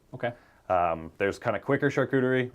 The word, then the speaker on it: charcuterie: $64,000 question and it's can I pronounce it correctly what is charcuterie yeah you did good did I do good